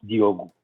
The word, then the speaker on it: Diogo: It's actually pronounced Diogo. It's like if you had an extra O at the end.